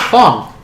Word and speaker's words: Fong: Fong. Fong? Fong. Pong. Fong. Fong. Fong. Pong. Fong. Fall? Fong. F-O-N-G. Oh, like gong with an F.